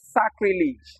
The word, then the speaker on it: sacrilege: So we have examples like sacrilege which is actually pronounced as sacrilege.